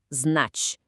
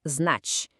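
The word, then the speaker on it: знать: Znać. Presta atenção na pronúncia. Znać. Esse finalzinho é super importante.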